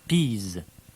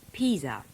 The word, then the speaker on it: Pisa: a little on italy you may be a bit thrown by the french pronunciation of the place names so we'll run through them you can guess which town she calls florence and milan that's milan now what about peas peas that's pisa she's been to england